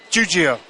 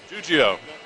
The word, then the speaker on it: Giuggio: to attempt your name give me some help juio juio I would have said it wrong juio